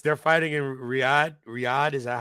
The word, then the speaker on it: Riyadh: Riyadh, is that how you Yeah, pronounce it? Riyadh.